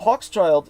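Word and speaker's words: Hochschild: remember the american author adam hawk's child so hawk's child his surname is spelled h-o-c-h-s c-h-i-l-d so he's probably of jewish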